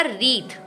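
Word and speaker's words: wreath: इसके बाद जो शब्द बनेगा वो बनेगा रीथ। अगर आप डब्ल्यू लगा दो आर इ ए टी एच के आगे तो वो बनेगा रीथ। और देखिए डब्ल्यू इसमें भी साइलेंट है।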